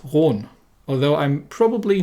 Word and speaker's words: Roon: the rune it it would actually correctly be pronounced round although i'm probably not going to keep doing